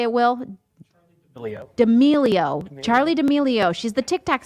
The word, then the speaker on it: D'Amelio: D'Amelio.